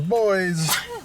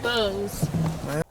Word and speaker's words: Bose: Big speakers, boys. Excuse me. Is that Bose or boys? How do you say that? Bose.